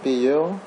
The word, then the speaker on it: Payeer: Donc Payer, ça s'écrit P-A-Y-2-E-R.